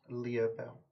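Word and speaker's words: Lia Bel: one Leah Bell. Wanted poster for, how do you spell that? LIA, LIA separate word, BEL. BEL. Kind of like Tinkerbell. Sure.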